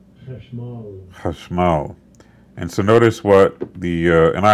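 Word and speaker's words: חשמל: Let's hear it pronounced correctly. Chashmal.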